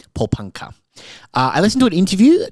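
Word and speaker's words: Porepunkah: Paulpunka. Paulpunka.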